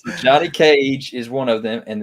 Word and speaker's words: Johnny Cage: that fast on that wrath nope nope nope johnny cave almost talisack you want to say it right there you go he got it right johnny cage is one of them and then cabal is